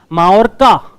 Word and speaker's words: Mallorca: First, Mallorca. Double L is silent in Spanish, right?